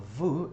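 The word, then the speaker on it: vous: Next one is vu. Notice again the s is not pronounced.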